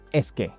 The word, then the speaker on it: es que: Blend the es and the que into a single quick burst. Es que.